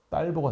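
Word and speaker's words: Talbot: 근데 이거를 프랑스 발음으로 하면 이 텔버트가 뭐가 되느냐? 몰라요. 딸보가 됩니다.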